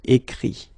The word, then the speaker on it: écrit: Remember that phonetically this final T doesn't exist, okay? So the sound will be only this I, écrit, all right?